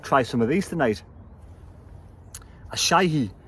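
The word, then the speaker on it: Asahi: Ashai. That's how you pronounce it.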